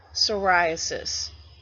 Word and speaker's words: psoriasis: in the boldface type psoriasis the P is silent and again that is